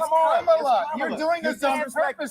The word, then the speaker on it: Kamala: Let me actually pronounce her name right. Kamala Harris. If Kamala. you said Nancy Pelosi. It's Kamala.